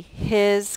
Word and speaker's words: his: We spell his H-I-S. Even though the S makes the Z sound, we spell that Z sound with an S.